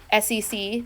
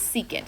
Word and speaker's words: secant: this that is cosecant don't say SEC this is secant it has a name don't say cot that is cotangent it's pet peeve of